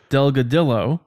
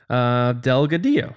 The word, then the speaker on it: Delgadillo: lot of times say Delgadillo yeah I said no it's the Double L Spanish Delgadillo so thank you Jordan